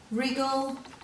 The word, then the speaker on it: wriggle: day 2 page, and all these words have a silent W with them, and we usually see a silent W before an R, as you'll see in all these words.